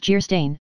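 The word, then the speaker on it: Geierstein: offering it for sale Anne of gerstein pronounced Jer stain or the maiden of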